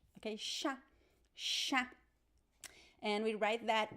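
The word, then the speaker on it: chá: So every time you see the letter C-H in Portuguese, remember the sound, the pronunciation is sh. Okay, sha, sha.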